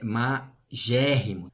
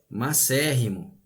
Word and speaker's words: macérrimo: Não existe essa pronúncia magérrimo. A pronúncia correta, a escrita correta é macérrimo, tá?